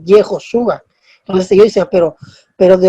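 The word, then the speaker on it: יְהוֹשֻׁעַ: Jesús en hebreo no se dice Jesús, se dice Yehoshua.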